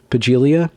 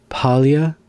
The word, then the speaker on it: Paglia: cope very vaguely point to Camille heglia's work pagelia palia palia there's the one where you don't pronounce thank you that's a good example okay Camille Paglia who says that transgenderism broadly defined crops up